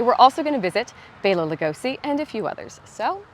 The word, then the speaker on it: Bela Lugosi: I always get telling me I said his name wrong. So here we shall meet Bela Lugosi.